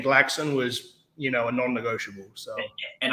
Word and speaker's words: Glaxon: There's like I used to call it Glaxon, and then it's Glaxon, and there's people who call it Galaxon as if there's like an A before the L.